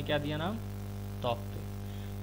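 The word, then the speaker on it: Tauktae: तो देखिए नाम के साथ साथ इनको प्रोनाउंसिएशन भी देना पड़ता है। तो जैसे देखिए तौकते इसने नाम दिया था यहाँ पे, तो उसने प्रोनाउंसिएशन भी दिया था यहाँ पे तौते।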